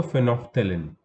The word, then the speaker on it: phenolphthalein: Also phenolphthalein. Phenolphthalein. Just note the spelling. Phenolphthalein, L is silent in between.